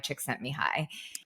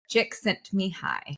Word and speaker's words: Csikszentmihalyi: coined by this American Hungarian psychologist named Mihai Csikszentmihalyi. Thanks for And knowing how to say his last name. I had to learn as I Chick was writing sent the me book. high. Csikszentmihalyi.